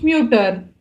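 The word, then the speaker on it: Mütter: तो आप यहाँ पे देख सकते हो, जैसे अपना हम लोग ओन ऑर्डर मिट उमलाउट लिख रहे हैं, हमारा जो प्रोनाउंसिएशन है वो भी चेंज होता है. आइना मुटर, फ्यूम्फ म्यूटर.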